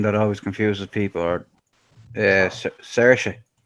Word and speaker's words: Saoirse: Or Saoirse. How do you say that? Saoirse.